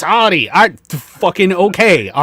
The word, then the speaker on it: Audi: It's Audi.